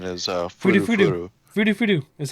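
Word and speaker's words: フルフル: pronunciation is, Fudu furu fudu. furu. Fudu fudu is how you say it in Japanese.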